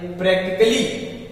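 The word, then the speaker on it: practically: अगला देखिए प्रैक्टिकली, वास्तव में। प्रैक्टिकली में क्या है? LLY है, उसके पहले ए।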